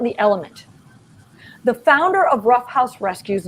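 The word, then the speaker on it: Ruff House Rescue: long island new york by the name of rough house rescue that's spelled r-u-f-f house rescue based in long island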